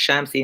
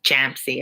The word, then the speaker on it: Shamsi: Shamsi in particular. Champsy, everybody calls her.